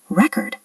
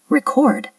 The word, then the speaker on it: record: The word record. As a noun, meaning a CD or an achievement, we stress the first syllable, record. But as a verb, meaning to capture sound or video, we stress the second syllable, record.